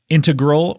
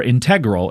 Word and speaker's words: integral: crazy and I said I believe it's either integral or integral it's not ingal way certainly not ingal certainly not that but it's it's either